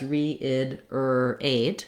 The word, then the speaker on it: reiterate: You can also think about it as reiderate if that's easier for you or reidate if that's easier for you. But just any place that there's an R in between two vowels, you need to move smoothly in and out of that tight back American R.